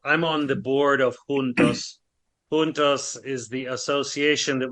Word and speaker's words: juntos: In Portuguese, it's spelled exactly the same. It's pronounced juntos, but it means the same.